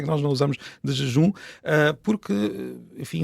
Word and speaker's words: desjejum: uma razão muito particular, porque nós lemos o S final das sílabas como um G ou como um X, e como a seguir temos um G, é estranho, é uma não é? mistura de sons muito parecidos.